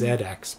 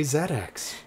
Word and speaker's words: ZX: the zx spectrum and it is pronounced zx because it's british you like to emphasize